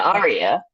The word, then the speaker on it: Aria: so what do you think about that uh Arya I was thinking uh am I pronouncing your name right I want to make sure I pronounce yeah Arya AR um what what are your thoughts on